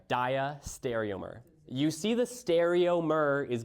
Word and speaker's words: diastereomer: The other relationship that we'll talk about is a diastereomer. Now, this one always trips up people on how to pronounce it, so I'd like you to repeat after me.